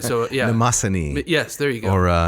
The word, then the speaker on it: Mnemosyne: unpronounceable. Mnemosyne. Oh, of course, right. So, yeah. Mnemosyne.